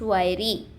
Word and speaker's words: wiry: The word is pronounced wiry with the stress on the first syllable.